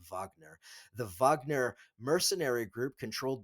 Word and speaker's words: Wagner: the Wagner mercenary group, or Wagner, or, however you want to pronounce it. I guess I should correctly pronounce it as Wagner.